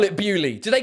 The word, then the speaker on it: Beaulieu: I've based my career on making fun of French people, and they pronounce this Bewley.